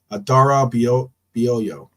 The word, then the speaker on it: Adarabioyo: I know I butchered that pronunciation. Adara Bioyo. Right? Adarabioyo. There you go. Something like that. Yeah, there you go. I'm just going to, soon enough, I'll just leave you with the pronunciation so that, Adarabioyo. Yes, that's how you pronounce it.